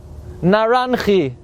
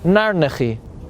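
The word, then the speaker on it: נרנחי: Nefesh, Ruach, Neshama, but the Kabbalah calls it Naranchi, or more correctly pronounced, Narnechi.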